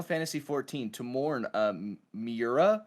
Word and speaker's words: Miura: 14 to mourn uh miura i believe that's how you say his name yeah with many with